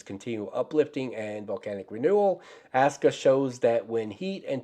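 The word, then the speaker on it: Askja: Okay, Aska volcanic system, Iceland, and yes, that's pronounced Aska.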